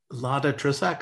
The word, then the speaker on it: Lada Trisak: Lada Trisak, I hope I'm pronouncing that correctly. Welcome, also from Thailand. Hi, yes, you got that correct.